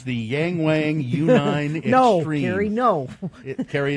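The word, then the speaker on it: Yangwang: It's the Yang Wang U9 No, Extreme. Carrie, no. Carrie, it's the Yang Wang U9 Extreme, or U9X. It might be pronounced Yongwang, by the way.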